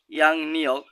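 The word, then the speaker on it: 양력: হানগুয়ে সনুন কোরিয়াতে ইয়ে সুনিমে যিশু খ্রিস্টের থানসেংইরিন জন্মদিন ক্রিসমাসে ইয়াং নিয়ক ইয়ং বাচ্চার পরে রিউল আসলে রিউলের উচ্চারণ নিয়নের মতো হয়।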